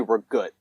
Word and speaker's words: ricotta: so ricotta cheese yes i say ricotta i grew up on long island and we just say we're good and we're good wow yeah do you think that's the italians pronounce it i mean that's how new york italians pronounce it huh or at least the ones i grew up around maybe it was a